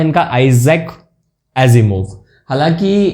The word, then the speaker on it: Asimov: तो ये वी वाले जो हैं नाम आपको रशिया में मिलेंगे, तो वहाँ पे ये स का जो प्रोनाउंसिएशन है वो ज निकलता है यहाँ पर।